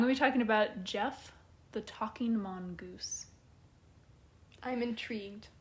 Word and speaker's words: Gef: a lot creepier than Gef the Talking Mongoose, because I hear the name Gef and I just think like, oh, Jeff, like that's my friend's dad's name.